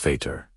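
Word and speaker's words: Vater: The German V is almost always pronounced like an F. Foul. Think of the word father in German. It's veter pronounced feter.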